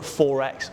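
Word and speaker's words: XXXX: br in the mix we're at Forex or quadruple X depending on how you pronounce it I'm told it's said like Forex so we're going to get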